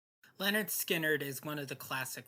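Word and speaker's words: Lynyrd Skynyrd: It's April 13th and today I listened to Pronounced Leonard Skinnard by Leonard Skinnard. Clearly, they anticipated people having trouble pronouncing the name. Leonard Skinnard is one of the classic rock giants.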